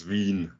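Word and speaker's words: Wien: sorry stefan what's the right way of pronunciating the the city in the local language and local it's veen there we go exactly it's it's but in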